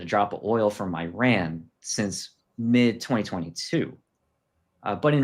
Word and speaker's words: Iran: Well, you guess it, it's Iran. And I'm pronouncing it the American way. I guess Iran is the better pronunciation, but It doesn't matter.